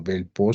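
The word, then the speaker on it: Velpeau: Este es un aparato de yeso Bell-PO, se escribe Bell-PAU, en el cual inmovilizamos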